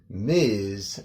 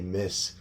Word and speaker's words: Ms.: What we should pronounce it like Ms, M-I-Z, almost like it was spelled like that. A lot of students sometimes see the MS and they still say Miss or Mrs.